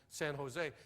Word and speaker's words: San Jose: el cajon and and san jose she said out here we pronounce that j like an h it's el cajon in san jose how long are you